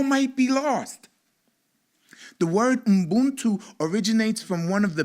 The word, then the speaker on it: Ubuntu: You can say it with me, Ubuntu. 3 syllables, right? My deaf daughter can even say this because it's easy enough for her to get it, right? Boon, and 2. She gets it.